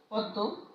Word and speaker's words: পদ্ম: 3 নম্বর নিয়মটি দেখো, শব্দের শেষে মফলা যুক্ত হলে শব্দের শেষে মফলা যুক্ত হলে সেই সংযুক্ত ব্যঞ্জনের দ্বিত্ব উচ্চারণ হয়ে থাকে। যেমন দেখো ছদ্ম, পদ্ম, এই 2 নম্বর আর 3 নম্বর নিয়ম কিন্তু একই রকম।